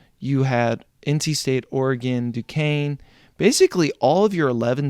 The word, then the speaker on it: Duquesne: Duquesne.